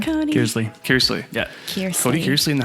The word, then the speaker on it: Kearsley: Kearsley.